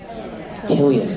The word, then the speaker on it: Cillian: Cillian Murphy? Killian.